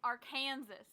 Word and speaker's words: Arkansas: It's Arkansas. It's spelled like Arkansas.